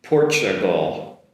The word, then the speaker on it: Portugal: Um Portugal Portugal. The "t" is comes across as a “ch” sound.